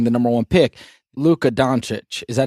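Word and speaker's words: Dončić: Luka Doncic. Is that how you say it? Doncic? Luka Doncic.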